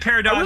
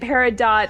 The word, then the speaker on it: peridot: know what I mean okay both are correct it's both parado and paradot are apparently both oh you just like